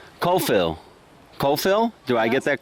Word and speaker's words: Kofel: It's called Kofel. Kofil. Kofil? Do I get that correct? Kofel. And how do you, that's spelled K...